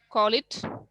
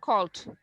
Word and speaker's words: called: Now it's high time you stop saying call it or just call. You have to insist on the last sound, called.